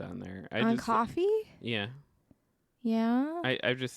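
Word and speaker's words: Ko-fi: yeah that thing well spelled with a K it's weird yeah but it's pronounced coffee because their slogan is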